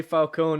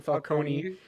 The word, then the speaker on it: Falcone: And as for Falcone, they actually say his name right in this one. They say Falcone, not like in Batman Begins, where they kept calling him Falcone.